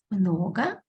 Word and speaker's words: много: Много, мало, когда. Again, pay attention when we pronounce a instead of o.